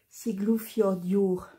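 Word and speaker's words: Siglufjörður: plus pour ulga donc le U se prononce ou donc siglou Fior d'Our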